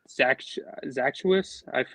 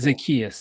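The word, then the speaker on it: Zaccheaus: And now we have Zachwis, I believe that's how you say his name, Mhm. the guy from Atlanta. And I believe just having that depth and AJ Brown was Oh, monumental. Zacchaeus.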